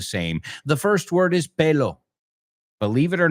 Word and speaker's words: pelo: The first word is pelo. Believe it or not, I've heard this word mispronounced incorrectly pretty often. Pelo. Okay? Pelo.